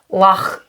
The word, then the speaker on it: loch: I mean, I think if you did a proper pronunciation, it would be like loch.